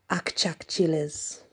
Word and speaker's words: Achachilas: The Achachilas are ancestors who keep a vigilant eye over their descendants, but they can also some people do actually pronounce them Akchakchilas. So, you know, there is a difference.